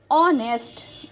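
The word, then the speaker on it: honest: ऑनेस्ट जब हम लिखते हैं तो एच से शुरू होता है, लेकिन उसका प्रोनाउंसिएशन क्या है? ऑनेस्ट, इसीलिए इससे पहले हमें क्या लगाना है?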